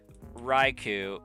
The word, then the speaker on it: Raikou: Cuz like how you just spelled it is I would read as Raikou. So, it would it would be more like Raiku is like that. But how it's spelled currently, I would I could get behind pronouncing it that way, Raikou.